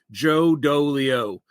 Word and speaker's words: Joe Dolio: because everyone always wonders my parents didn't like me very much so they made sure that my name rhymed all the way through Joe do Leo it's you know it's